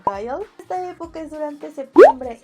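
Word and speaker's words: 가을: que es el otoño, que en coreano se pronuncia Gyeol.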